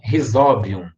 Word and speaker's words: Rhizobium: esse você talvez conheço rhizobium é tão penúltima sílaba é uma vogal seguida advogado joga a tônica na penúltima a e se nada